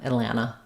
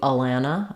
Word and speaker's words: Atlanta: the te's yeah and people native speakers who live there might say Atlanta Atlanta um uh this is an unreleased tea Atlanta Atlanta Atlanta they don't really do Alanta I don't think I don't think they drop it entirely this one does get